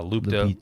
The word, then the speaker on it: Lupita: Uh, Lupita. Lupita.